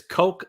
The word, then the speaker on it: Koch: and that would no it's it's Coke like a drink really or like brothers some people are familiar with Coke brothers but yeah it's the